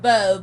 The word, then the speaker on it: Beau: Hey, it's pronounced Beau, but it's spelled B-E-A-U.